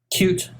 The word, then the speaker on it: Qt: booth which is a cute app it's a a QT depend or cute depending how you say it application that allows users